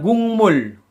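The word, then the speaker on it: 국물: Jadi penulisannya adalah gukmul. Gukmul. Pelafalannya gungmul.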